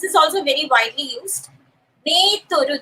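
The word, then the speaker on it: メートル: Meteru. They pronounce it in a slightly different way. It's meteru.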